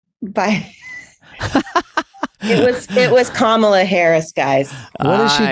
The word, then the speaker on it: Kamala: Um I learned it's Kamla, by the way. So, if you do meet her, you have to you have you have to pronounce you have put the emphasis on the first a or else I don't know.